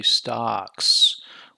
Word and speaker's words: stocks: So when you say stocks, which sound is the loudest? It's the vowel sound, it's the ah, okay?